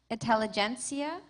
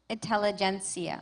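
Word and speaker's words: intelligentsia: Your word has two pronunciations. Intelligencia. Intelligencia.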